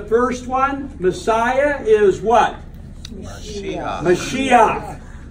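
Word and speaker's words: מָשִׁיחַ: If you have a word and it ends in a het, and under the het is a patak. It's pronounced a certain way.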